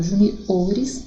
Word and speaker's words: juniores: Então, ó, júnior, sílaba tônica ju, e quando eu falo juniores, sílaba tônica o.